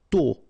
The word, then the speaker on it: tôt: Tôt, okay, final D not pronounced, and then this O accent circonflexe is a bit stronger than normally, so tôt, tôt, tôt.